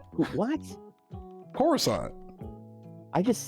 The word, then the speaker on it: Coruscant: Corey it was on Corey Assad like you know like I'm going to teach you how to pronounce this damn planet's name it's core rousant what Coruscant I just said that